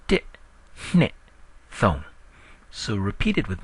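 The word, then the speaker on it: နှစ်: It's not knit like knitting a sweater. It's hne with a nasal sound. That's why I spell it with an HN rather than an N.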